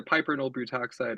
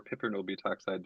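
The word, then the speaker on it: piperonyl butoxide: pollen sure so um it's either piperl butoxide or piperl butoxide depending on how you you want to pronounce it like any pesticide that's out there there's there's a lot of people that pronounce them different ways I don't know if there actually is an established way of pronounce um so it's an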